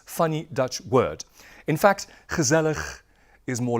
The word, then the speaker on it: gezellig: This funny guttural sounding word. Could you please repeat after me? Gezellig. Gezellig.